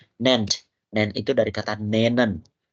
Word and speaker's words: nennen: Nennt itu dari kata nennen. Nennen ya, bukan nenen bacanya. Nennen. Menyebutkan.